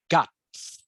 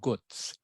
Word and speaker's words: guts: you okay so this word here is pronounced actually pronounced guts not Goods guts guts all right guts is a slang